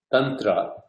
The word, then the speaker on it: Tantra: to introduce three terms Tundra or what is called contra in the West with the original and the original pronunciation is tundra like munnetra like young drop so tongue grah grah